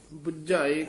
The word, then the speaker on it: बुझाए: बुझ जिस आप बुझाए बुझाए कसके ही बोलना पहला भी बड़ी र दस है जिथे अगन त्रिसना दे नाल बुझ शब्द आजे उथ पोला उच्चारण करना जिथ समझन दा वाचक होवे उथ कस के उच्चारण करना बजाई गुर प्रसादी सेव